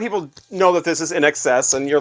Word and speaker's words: INXS: knows that not everybody I've heard these guys called INXS which again if you're just reading it you don't know I mean they are in all caps but it is actually in excess as to be in excess of something uh Tom Araya Tom